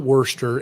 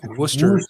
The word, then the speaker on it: Worcester: uh gmcky says chris just like saying worcester so it's not worcester it's worcester it's not even spelled that way it's w-o-o-s-t-e-r yeah like a rooster with a with a